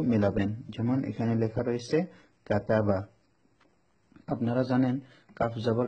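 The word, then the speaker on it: كَتَبَ: যেমন এখানে লেখা রয়েছে কাতাবা। আপনারা জানেন কাফ জবর কা বানান করলে কাফ জবর কা, তা জবর তা, বা জবর বা, কাতাবা।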